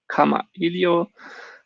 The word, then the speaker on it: Kamailio: would be this ekamailio in hawaiian language it's with an apostrophe making it phonetic so pronouncing it like comma helio you can find some